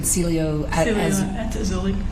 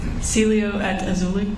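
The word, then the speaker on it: Cielo: Celio. Say it one more time. Celio.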